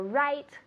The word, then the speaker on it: write: Write is like correcto, no? That's right. Okay. That's right. So it's the same pronunciation, but careful, it's different spelling. It's a W.